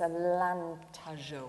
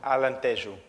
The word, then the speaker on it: Alentejo: an area of Portugal, which I'm going to pronounce very badly, but it's Alentejo. Alentejo.